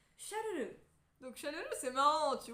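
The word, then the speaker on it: シャルル: ensuite nous avons la façon de prononcer Carla en japonais tu ne sais pas pourquoi parce que Carla en japonais passe à Charles qui se prononce chalel donc chalel c'est marrant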